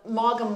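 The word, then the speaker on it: Maugham: of uh it's called Morgan White am I saying that white okay right right okay spelled m-a-u-g-h-a-m yeah but it's pronounced Mom okay we'll put the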